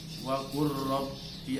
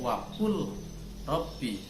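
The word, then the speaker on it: وَقُل رَّبِّ: Wa qur rabbi adkhilni, wa qur rabbi, kalau dilihat lafalnya itu wa qul rabbi, namun bacanya wa qur rabbi, wa qur rabbi adkhilni mudkhala sidqi wa akhrijni mukhraja sidqi, dan seterusnya itu.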